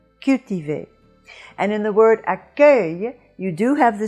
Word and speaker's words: accueil: be the open eu and you have that in accueil and the sound at the end of this syllable that is closing off the syllable is a semi vowel but it has the function of a consonant in this case and we have "yuh"